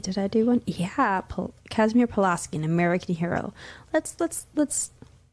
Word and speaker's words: Kazimierz: Yeah, the Kazimierz Pulaski, actually in Polish pronunciation is Kazimierz.